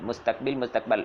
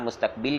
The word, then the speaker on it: مستقبل: گے وہ زمانہ مستقبل۔ مستقبل استقبال، ہم استعمال مستقبل کرتے ہیں لیکن مستقبل درست اس کا تلفظ ہے، تو وہ زمانہ